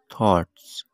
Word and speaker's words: thoughts: آپ سپیلنگ دیکھیں، THOUGHTS، تھاٹس۔ اس میں GH سائلنٹ ہے، یعنی اس کی آواز نہیں آئے گی۔ جب اس کا تلفظ